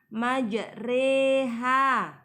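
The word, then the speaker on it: مجريها: Hai bacaan yg mana Perbedaannya terletak pada bacaan roh tulisannya majroha membacanya majreha race seperti kata sore e-maju reha bacaan imalah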